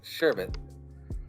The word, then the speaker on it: sherbet: spill sherbet wrong because sherbert doesn't actually have an r at the end of it sherbet yeah it does it's pronounced most people pronounce this sherbert but there's no actual